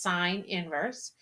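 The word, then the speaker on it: sin⁻¹: If we have sine inverse, that's sine -1 is pronounced sine inverse, of 0.9816.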